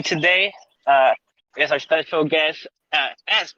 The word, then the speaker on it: Esse: With me today is our special guest, S, right? That's how you pronounce it?